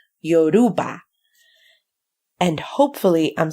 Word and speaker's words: Yoruba: me read this in Yoruba yo rule Yoruba you know because sometimes people don't even pronounce Europe or correctly they'll say something like yo you Ruba Yoruba and hopefully I'm saying